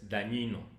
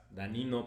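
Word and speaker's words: Dagnino: estuvo Raquel Buen Rostro y después llegó Martínez Dañino. Así se pronuncia. Sí, sí. Es que la gen en italiano se pronuncia, ¿no? Y y estas posiciones más las que nos faltan. Ni modo que digas danino, son danonino.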